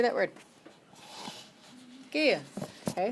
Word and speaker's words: gehe: Gehe. Okay. The I at the end is pronounced a.